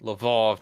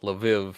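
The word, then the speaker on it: Lwów: on the fact that I'm saying Lvov, not Lviv, because that's the Polish pronunciation, and get wrecked.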